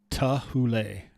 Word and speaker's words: Thule: good night ray case tahule tahulei is how rey says it's pronounced look up i'll play uh what my dictionary says so thule is how my dictionary pronounces it all right you heard